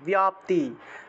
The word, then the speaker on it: ব্যাপ্তি: এই যে বয়ের সাথে জফলা থাকলে বিয় উচ্চারণ হবে ব্যাপ্তি দেব্যৈ, এইভাবে উচ্চারণটা হবে। ব্যাপ্তি দেব্যৈ, এইভাবে উচ্চারণ হবে, ইয় উচ্চারণটা আসবে। যেহেতু জফলা আছে সেজন্য ইয় উচ্চারণটা হবে।